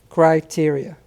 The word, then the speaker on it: criteria: here we go criteria criteria c r i t e r i a c r i t e r i a criteria criteria and with the pronunciation that first part sounds like cry like cry criteria criteria